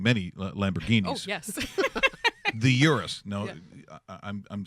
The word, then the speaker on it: Urus: So it's actually Urus. Oh, That's the way it's Urus. properly pronounced.